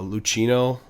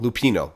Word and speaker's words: Lupino: When you uh Lucino, did I say his name wrong? Lupino. Lupino.